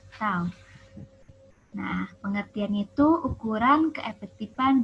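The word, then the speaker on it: τ: Momen gaya atau istilah lainnya torsi, lambangnya itu seperti T atau tau ya. Jadi dibacanya itu tau.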